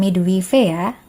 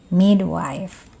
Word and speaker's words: midwife: Jadi, cara membacanya bukan "midwi-wew," tetapi "midwife" (bidan).